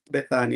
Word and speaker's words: Bethania: Is this mention is pronounced Beth Bethany. It's like Bethany.